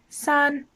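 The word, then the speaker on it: 四: number three is pronounced sun and again it's in first tone flat repeat after me san san the number four is pronounced su and it's in fourth tone going down sir repeat after me sir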